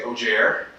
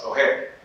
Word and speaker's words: Ojer: I've been at many tables where they say Ojer, and that's not a big deal, but I have an Afro-Puerto Rican family, grew up speaking Spanish and English. I'm like, oh, it's Oher, that's how you pronounce it.